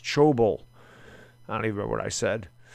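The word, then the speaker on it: Thybulle: Also, it's pronounced Chobel.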